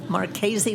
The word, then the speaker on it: Marchese: That's right, Marchese like crazy.